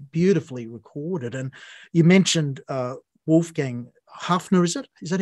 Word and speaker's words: Wolfgang Haffner: And you mentioned Wolfgang Haffner, is it?